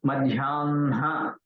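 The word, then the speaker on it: मध्याह्न: With Na, Madhyanha, Sayanha. Has to be pronounced like that, not Hana.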